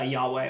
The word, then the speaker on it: Yahweh: right yahweh that's who it is yeah it's yahweh it's okay y h v h but it's pronounced y uh yahweh or is my friends like to call it